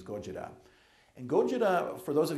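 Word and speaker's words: Gojira: this decade now Goa we all know this as Godzilla which of course is a total mispronunciation of the Japanese Goa and Goa for those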